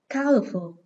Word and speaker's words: colorful: Câu số 3, colorful. Từ này có 3 âm tiết. Âm thứ hai chứa er, nên trọng âm dưới âm tiết số 1.